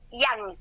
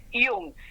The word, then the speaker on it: Jung: apellido no es inglés, muchos le dicen yang, no hay otro psicólogo de la historia que es Yang, porque se escribe como joven en inglés. Este no, chicos, este como se lee lo pronuncian.